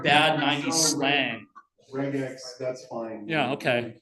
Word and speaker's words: regex: Regex, that's cool. It's like vegan, right? They're not eating vegetables, right? Anyway, sorry, George, your the comment, yes. We called bisac. Bisac, right? It's like bad 90s slang. Regex, that's fine.